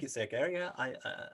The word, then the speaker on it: Egeriae: Is how do you pronounce it? Egeriae? Well, I think it's Egeriae.